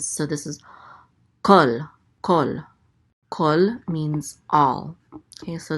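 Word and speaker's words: כֹּל: So this is kol. Kol means all. Okay, so this word will never be pronounced kal. It will always be pronounced kol.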